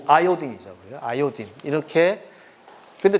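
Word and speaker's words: iodine: 요드. 아오딘. 어, 그렇 와이요딘. 우리말로는 요드라는데 실제로 정확한 발음은요 아이오딘이죠.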